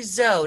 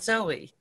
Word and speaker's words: Zoe: Is it "," Is that how you pronounce it? Yes and it's actually, it's actually Zoe, not zo-ey.